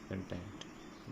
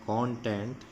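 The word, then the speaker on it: content: कंटेंट देखेंगे, इस शब्द के दो उच्चारण हैं। एक है कॉन्टेंट, एक में आप इस ओ का उच्चारण ओ की तरह करेंगे, और एक में आप इसका उच्चारण ए की तरह करेंगे, का। तो यहाँ पर है कंटेंट।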